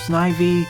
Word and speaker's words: Snivy: in this fan game I've seen it pronounced Snivy I've also seen it prevail sniffy well okay once